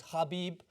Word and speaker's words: Khabib: at UFC 205 and they were telling us how to pronounce it so is khabib as they like to say it um and I'm just